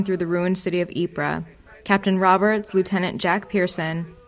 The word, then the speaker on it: Ypres: press at cloth Hall Ypres is spelled YP re s and so wipers poked fun at the common english miss pronunciation of the name since the first issue